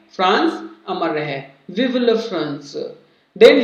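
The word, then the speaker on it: Vive la France: और वो क्या लिखता है, विव ला फ्रांस, लिखा हुआ क्या दिख रहा है आपको, विवे ला फ्रांस, लेकिन इसका जो राइट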